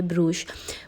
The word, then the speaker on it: Brugge: अब यहाँ पर कुछ लोग ब्रूख भी कहते हैं, आई मीन फ़्रेंच में, और ब्रूश भी कहते हैं, क्योंकि डच और फ्रेंच की प्रोनाउंसिएशन जो है वो मुख्तलिफ होती है। तो कुछ लोग पता नहीं क्या क्या कहते हैं, लेकिन इसकी प्रोनाउंसिएशन तकरीबन इसी तरह की है, ब्रूश।